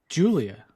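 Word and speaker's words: Giulia: I can never pronounce her name. Julia.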